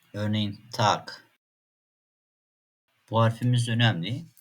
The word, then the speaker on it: Tag: "Bitte , Affe , Hase" G harfi kelime sonunda genellikle K gibi okunur. Örneğin "Tag".